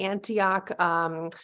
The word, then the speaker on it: Antioch: are a core faculty member um do I pronounce it Antioch it's the Antioch low residency MFA program so you do teach